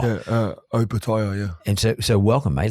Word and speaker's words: Opetaia: So how do I actually say your surname properly? Give it a go. How to say it? Give it a go. Opetaia. Opetaia. Opetaia. Yeah, that's good, mate. Yeah. Thank you. Because a lot of people say Opetaia. And in your language, or in the Samoan language, O is pronounced O as opposed to O.